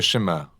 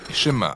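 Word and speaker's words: שמע: est écoutée ou entendre prononcer chemin en hébreu et c'est ce mot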